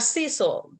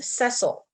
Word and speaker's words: Cecil: told that it is it's not Cecil uh it is Cecil sorry I have no idea I always thought it was diesel my bad it's spelled like Cecil so okay so a